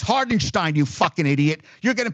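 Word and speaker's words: Hartenstein: It's Hardenstein, you fucking idiot. You're getting paid $10 million a year. Learn how to fucking pronounce a fucking name, you fucking idiot.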